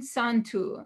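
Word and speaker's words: יום טוב: Bon Santo, good holiday. And Santo is actually the word Yom Tov, because the Y is pronounced S in Judeo-Provençal.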